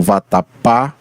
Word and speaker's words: vatapá: tenho aqui por exemplo vatapá ou seja o pá é é a sílaba mais estressada mais mais dita com mais força tá então nós podemos dizer que Vatapá é uma palavra oxítona porque ela possui a sílaba tônica na última sílaba assim como Carrossel e